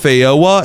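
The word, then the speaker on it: feijoa: And I just searched it up and apparently this is pronounced fyoa and then loqua.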